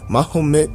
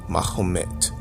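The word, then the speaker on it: Mehmet: mahed Mah muhamed mahed mahed is how Muhammad's name is pronounced in Turkish mahed and this is very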